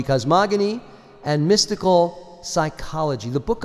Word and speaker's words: cosmogony: mysticism mystical cosmogony yes it's g a hard G cosmogony and mystical psychology the